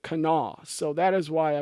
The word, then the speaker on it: Kanawha: kan a wh a which if you look at that looks like Kanawa at least to me I would say kana wah but I was later told everyone there pronounces it Knaus so that is why